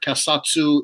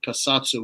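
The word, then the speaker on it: keisatsu: it i called my company dojo the word kasatsu in japanese you can see i'm a bit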